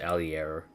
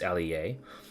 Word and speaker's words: Allier: He calls it Allier, but it's Allier.